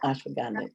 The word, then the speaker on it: ashwagandha: And it's ashwagandha. Did I pronounce that right? Yep, ashwagandha.